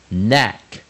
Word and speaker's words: knack: 首音 KN, knack, knack. 当然我们知道 K 加 N 的时候 K 是不发音的，所以就念 knack, knack.